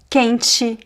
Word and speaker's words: quente: Usually if the letters t e are placed at the beginning of our middle of a word, the pronunciation will be